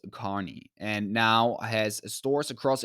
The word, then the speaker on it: Kearney: Buckle began as a men's clothing store in 1948 in Kearney, Nebraska, pronounced Kearney, and now has stores across in 42 states.